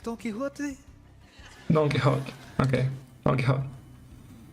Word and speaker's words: Don Quixote: the typical Spanish pronunciation, the X in Spanish is pronounced like a J, like a J. So you have to say Don Quixote, Don Quixote. You do want to stress on the middle.